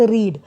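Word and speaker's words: read: और यहाँ पे वर्ड स्पेलिंग तो नहीं चेंज हो रहा, बट इसकी प्रोनाउंसिएशन रेड होती है।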